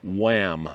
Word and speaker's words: WAAAM: do today we are at the wham museum in hood river oregon that's spelled w-a-a-a-m and it stands for